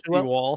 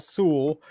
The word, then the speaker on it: Sewell: Not Seawall, Sewell.